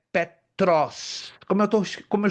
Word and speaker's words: Petros: A palavra grega para Pedro é Petros. Como eu tô, como eu estou pronunciando aqui, ó. Petros. P E T R O S.